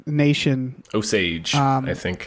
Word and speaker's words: Osage: So, but it's in Oklahoma, an Osage Nation. Osage, I think. Osage is how it's pronounced in the film.